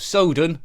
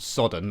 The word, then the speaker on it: Sodan: game is sword of Soudan I'm sure that's how it's pronounced not sodden like grass anyways published by Discovery